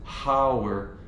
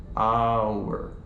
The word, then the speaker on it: hour: like hey I have a meeting in an hour from now and our hour is spelled H ou you our but we don't pronounce it how're we pronounce it ah our vowel sound right so I ate an omelet